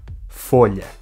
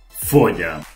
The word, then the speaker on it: folha: Folha. Folha. El portugués tiene la pronunciación que todavía se conserva hoy en español en algunas regiones no yeístas.